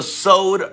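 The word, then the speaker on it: סוד: But it's called the Sowd Revelation. All right, not sowed like you sow a seed. Sowed, that's how you say it in Hebrew, sowed.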